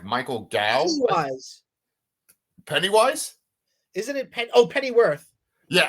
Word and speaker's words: Gough: It's like Michael Gow. Pennywise? Isn't it Pennyworth? Yeah, Alfred Pennyworth. But Michael Gow, right? Isn't that his last name? I'm not sure. Gough.